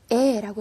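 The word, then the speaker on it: へ: 자, 이 여기에 나와 있는 이 해는요. 조사로 쓰였을 때에는 발음을 에라고 해주셔야 돼요.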